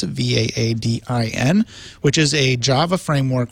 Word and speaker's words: Vaadin: will be back, I believe, to talk about Vaadin, or Vaadin, depending on how you pronounce it, Vaadin, which is a Java framework for building modern web applications.